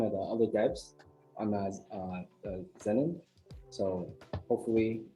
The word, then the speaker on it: Zenon: uh i'm just gonna be going over the xenon mystery not xenon is uh xenon zenon right then right yeah that's how you pronounce it yeah it's not xenon then the